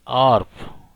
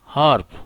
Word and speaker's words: harp: They pronounce the noun harp as arp, N arp. So they use N. But the British people, they use A before the noun harp. They pronounce it as harp.